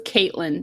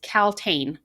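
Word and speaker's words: Kaltain: to have a glossary i thought her name was kaitlyn the entire book okay it's caltane k-a-l-t-a-i-n-t-a-i would you not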